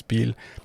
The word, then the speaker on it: Biel: So it has like the German notion is Biel. So the German way of pronouncing it is Biel. And Bien is just the French part.